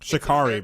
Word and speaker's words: Sha'Carri: I know it's like Sha'Carri, by the way.